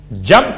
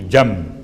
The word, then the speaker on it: جنب: اور بھی، وَجَنبِهِ الْعَلِي، جنب کسے کہتے ہیں؟ جیم نون بے، چونکہ تجوید کے قاعدے کے لحاظ سے آپ کو تلفظ میں میم کی آواز محسوس ہوگی، جنب، حالانکہ جنب ہے۔ اس کا ترجمہ کیا ہے؟